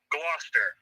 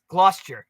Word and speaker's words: Gloucester: and sub-zero yes now you know how to pronounce its name gloucester gloucester the duke of gloucester thank yes it is